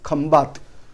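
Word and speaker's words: Khambhat: Actually name of this is Khambat, but in English we are pronouncing as Kambai.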